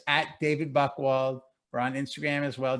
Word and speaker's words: Buchwald: Again, Buchwald is BUCH, even though it's spelled, it sounds like it has a K in it.